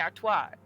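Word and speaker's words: Artoirel: Because, like, there wouldn't necessarily, to my knowledge, be an L at the end. It would be Artois.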